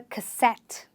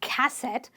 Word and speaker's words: cassette: At the time, you had a cassette, not a cassette. A lot of people say cassette. You stress on the suffix itself and you say, we used to play cassettes in the late 90s or in the early 90s.